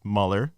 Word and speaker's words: Muller: but uh yeah we I can't thank Peter Mueller it's pronounced Mueller a lot of people mispronounce his last name